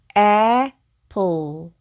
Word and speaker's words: apple: 그리고 여기 이는 묵음으로 소리 내지 않습니다. 그러면 읽어보면 이 단어는 apple, 묵음, apple 이라고 읽으시면 되고 이 apple는 사과라는 뜻이죠.